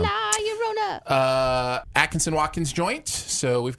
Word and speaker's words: La Llorona: Let's talk about Curse of La Llorona. This was an Atkinson. Yeah, you said it right. Yeah, well, it's two L's, so that's a Y sound. La Llorona.